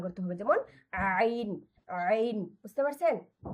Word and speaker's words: ع: এজন্য এটাকে আমাদের এই গলা মানে এটার কোনো বাংলা উচ্চারণই নেই, আইনের কোনো বাংলা উচ্চারণ নেই।